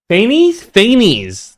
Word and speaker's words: Fanes: Dude, the more I see of this, the more I am adamant that Fanes or wait, how is it pronounced? Fanes.